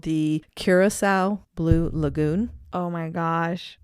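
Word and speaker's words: Curaçao: spelling what is it like i think it's curacao absolutely curacao that's the way i wrote it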